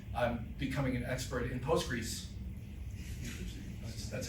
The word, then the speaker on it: Postgres: and now um I'm becoming an expert in postgris That's how you pronounce.